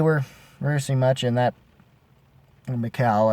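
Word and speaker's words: Mikael: Can't remember that we were rehearsing much in that Mikal, I think is how you're supposed to pronounce it in Swedish.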